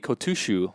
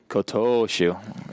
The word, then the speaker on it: Kotoshu: Yeah, the former Ozeki Kotushu, I believe is his name. Kotoshu.